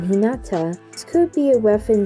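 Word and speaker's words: 日向: translates to facing towards the two kanjis can also mean sunny place or in the sun when used in normal speech rather than a saram name in which case they can be pronounced in hinata this could be a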